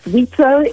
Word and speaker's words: WIZO: How do we pronounce it? Pleasure. Yes, thank you. Yes, WIZO, and it stands for Women International Zionist Organization.